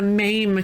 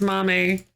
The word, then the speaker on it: MAME: a ma with a maim cabinet. Oh, ma'am cabinet. Or is it pronounced mame? Like edamame.